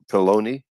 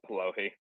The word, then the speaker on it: Polohy: that there might be a thrust toward Polony, is the way Craig pronounced it. And I'll bring Dr. Paul back up here. I believe Craig was referring to Polohy.